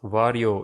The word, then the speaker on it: Varjo: the world of vr wario is that company yep wario is how you pronounce their name extended and virtual reality